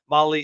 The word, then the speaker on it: Mahle: Molly is spelled Mahle.